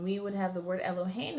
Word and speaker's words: Elohim: you would use so the example I like to use for this as L oh hey new right ello hey new the second the last accent or second the last syllable is accented so when we would